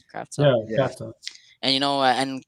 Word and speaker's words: Kravtsov: Is that how you pronounce it, Kravtsov?